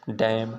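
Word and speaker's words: damn: और यन साइलेंट होता है, यन ही खाली साइलेंट होता है, ठीक है ना। जैसे आटम, डैम, हाइम, कॉलम, ठीक ना, ये प्रकार का क्या है आपका साइलेंट है।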